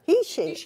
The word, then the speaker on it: heishi: something colourful oh well hershey beads lovely hessy read beautiful apparently i was told over in tucson that i'm i'm pronouncing it wrong really should be heishi yeah he she i didn't know that